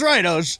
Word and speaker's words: Oz: So it looks like Oz the Mentalist, but it's Oz the Mentalist. Instagram, Twitter.